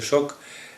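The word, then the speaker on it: Şok: sklepach 101 albo szok pisze się sok z taką kreseczką na dole czyta się szok bo w migros ta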